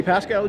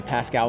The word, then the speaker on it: Pascoe: joining us i'm pascoe joined in the booth i think i just pronounced my last name pascal like you did yesterday i'm pasco joined in the booth